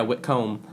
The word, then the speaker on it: Whitcomb: Yeah, Whitcomb. You pronounced it right.